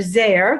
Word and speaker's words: Zare: So when I started my business 5 years ago, Rapport Builders, and I end it with a Z for Zare, that rhymes with care, Rapport Builders, I combined my two passions just like you.